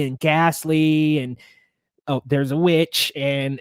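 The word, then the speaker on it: The VVitch: years is Witch, and it's spelled out kind of like two V's, like the Vivitch, but it's the Witch.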